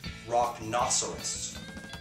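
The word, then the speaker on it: Rocknoceros: to say this one because I say it wrong but I got the correct pronunciation now it's rock nerist it's cool yeah they're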